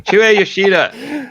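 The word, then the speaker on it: Shuhei Yoshida: Shuei Yoshida.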